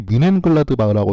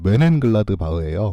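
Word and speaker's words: Mönchengladbach: 그리고 메넨글라드바흐는 그분이 뮌헨글라드바흐라고 써놔서 아마 헷갈리신 것 같은데, 뮌헨글라드바흐가 아니라 메넨글라드바흐예요. 그래서 발음이 한국어로는 비슷하긴 한데 외래어 표기법으로는 비슷하긴 한데 실제로는 전혀 다른 발음이고, 그리고 메넨글라드바흐는 뮌헨이 아니라 뒤셀도르프 근처에 있는 도시입니다.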